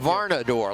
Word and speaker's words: Varnador: Dax Varnador, like varnish. Varnador. That's how you have to remember it. Folks, I'm old. I have to put things together in perspective. Varnador. His barn door, he's running like it rhymes with Commodore.